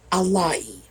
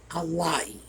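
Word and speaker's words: alaye: If you ever see the word Alai, A-L-A-Y-E, Alai, that's how it's pronounced.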